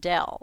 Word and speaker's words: del: was given by now that little upside down triangle is pronounced Dell so it's dell.